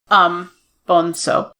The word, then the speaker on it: Bonzo: Because they said it's Portuguese, so it's pronounced like an S. Bonzo.